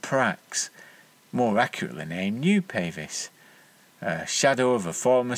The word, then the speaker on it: Pavis: I should have really invest Ed in was pavis I've since learned that this is more accurately pronounced pavis but I've always used the long Vel sound